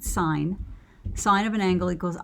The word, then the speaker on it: sin: s i n and you don't pronounce it sin you pronounce it sine sine of an angle